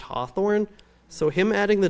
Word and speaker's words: Hathorne: Maybe, but the name was probably actually pronounced Hawthorne, so him adding the W may have just gotten people to finally say it right.